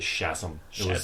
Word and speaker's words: Shazam: in Black Adam they say sh he actually pronounces it shazm the Rocks one uh demand besides him not